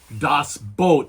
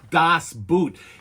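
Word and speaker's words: Das Boot: Dossboat, not Doss Boot. It is not the story of footwear.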